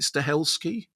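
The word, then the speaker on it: Stahelski: And do you remember you interviewed I think you interviewed Keano and Chad, is did you pronounce it Stelski?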